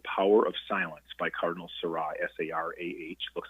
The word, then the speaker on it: Sarah: It's called The Power of Silence by Cardinal Seurat, S-A-R-A-H. Looks like Sarah, but it's pronounced Seurat.